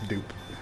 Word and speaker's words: Dupe: Yeah, it's Dupe. That's how I'm gonna pronounce it.